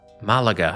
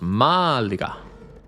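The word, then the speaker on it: Málaga: in Granada not Malaga Malaga I think that's how you say it they did not like the fact that I stressed the second a they said no it's Malaga okay thank you now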